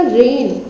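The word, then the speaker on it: reign: और नोम, नो, ये क्या है, रेन, ठीक है, जी साइलेंट कर देंगे तो कैसे कैसे प्रोनाउंसिएशन होगा इसका, रेन, ठीक है।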